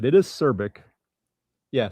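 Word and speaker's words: Cirbic: Every time you say that, I keep thinking you're saying Cervic with a V instead of a B.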